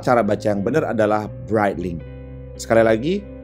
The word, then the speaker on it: Breitling: Padahal cara baca yang benar adalah Breitling. Sekali lagi, Breitling.